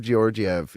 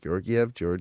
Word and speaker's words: Georgiev: Georgiev. I'm gonna do this all night. Samsonov. It's technically Georg. Like you have to like roll one of the R's, and it's tough.